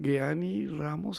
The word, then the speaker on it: Geanni: Estamos con Jeanny Ramos, Jeanny, se me viene la G de la pronunciación en alemán, Jeanny Ramos, guatemalteca, que viene en el marco de una campaña que realiza Advenia.